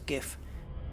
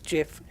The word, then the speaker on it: GIF: still wrong is is pronouncing uh jif as gif um i'm not having it because it ain't right it's jif but yeah could care